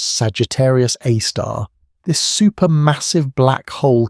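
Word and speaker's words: Sagittarius A*: Known as Sagittarius A, pronounced Sagittarius A star, this super massive black hole contains about 4 million times the mass of our sun.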